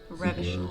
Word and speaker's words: Revachol: Revachol.